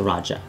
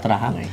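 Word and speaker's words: Rajah: what Tagalog people, but the pronunciation is actually Raja, not Raha.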